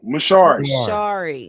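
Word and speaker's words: Mshauri: I don't know how to pronounce it. MaShauri mentoring program. MaShauri.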